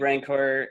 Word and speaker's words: Rancor: And if you ever read Rancor, at the end of it, or Rancor, if you pronounce the word properly, at the end of